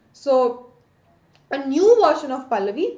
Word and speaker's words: Pahlavi: A language called Pahlavi, right? Sometimes some pronounce it as H is silent, but pronunciation might be different, right?